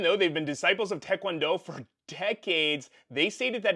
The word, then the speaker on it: Taekwondo: Also, side note, it's Taekwondo, not Taekwondo. It's spelled T-A-E, Tae.